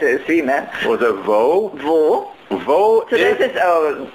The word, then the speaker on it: Wo: Vo so this is, it's spelled with a W and all the W's in German are pronounced. So I would say where, but how is it spelled in German? W-O. Just W-O.